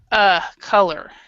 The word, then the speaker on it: color: would use it its color because it's in if you know anything about phonetics and that this you right here is actually a schwa so it's an uh sound oh look color color color and that we don't